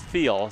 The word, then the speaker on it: Thiel: He also told me I mispronounced his name last year when I said Thiel, and it's Thiel.